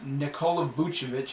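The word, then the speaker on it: Nikola Vučević: i do this i did this by making nikola buchevich yeah that's how you say his name damn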